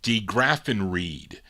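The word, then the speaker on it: DeGraffenreid: graphen red wait yeah Charlene kind of did it phonetically de graphen Reed there you go Hal and Harold D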